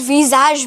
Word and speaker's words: visage: Visage. Visage. You're not saying visage. You're saying visage. It's more of like sh and j. Sh and j. So it's between them actually.